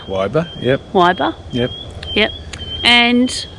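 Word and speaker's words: Weyba: is Waiba. Wyber. Yep. Waiba.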